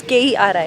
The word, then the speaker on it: Querim: We are at Keri Beach. Querim is how it's written in English. The actual way of pronouncing it, as the Goans do, is Keri, मतलब Keri.